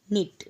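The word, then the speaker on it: knit: Did Najma नॉट निट? बुनने की English होती है निट। के को हम पढ़ते नहीं, के इज साइलेंट।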